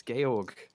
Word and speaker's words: Georg: Are you talking about Georg? Debated. Georg Hegel, yeah. Georg Hegel. It's Georg. Georg. It's German. It's Georg.